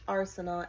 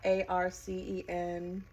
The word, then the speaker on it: Arceneaux: It's spelled very unique. It's almost French. Arceneaux, Arceneaux. So I really enjoyed watching